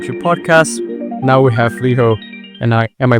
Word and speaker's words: Leeho: Now we have Leeho, and am I pronouncing it correctly? That's right, Leeho.